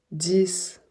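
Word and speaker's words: dix: on prononce un f 10 le 10 marche comme le 6 c'est-à-dire que quand il est isolé on va prononcer le X comme un S exemple ouvrez votre livre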